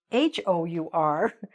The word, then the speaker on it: hour: as you would pronounce h-o-u-r okay but really h-o-u-r is pronounced like this our okay so let's say